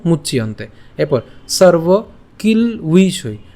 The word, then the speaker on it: মুচ্যন্তে: এরপর মুচ ইয়ন্তে, তো আমরা একসাথে উচ্চারণ করব মুচ্যন্তে।